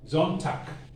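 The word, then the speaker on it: Sonntag: be pronounced zone tag there are situations where the g must be pronounced k zontak when you meet the elderly you will hear zontak montak so wherever you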